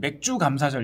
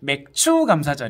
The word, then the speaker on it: 맥추감사절: 1단 이렇게 기억하시면 되겠습니다 발음 잘 못하셔서 어떤 분들은 맥주 감사절 잃었는데 아냐 그렇지만 되고 맥추감사절 입니다 맥주 자드 다음은 나팔절